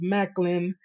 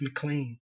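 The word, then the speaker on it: Maclin: A Monster Ball, PCO, Rhino, Steve Macklin. I'm gonna try to say his name more right. I keep saying Steve McLean.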